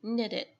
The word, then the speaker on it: needed: it, nó sẽ hơi chệch miệng một tí, needed, chứ mình không có đọc rõ ra thành âm y.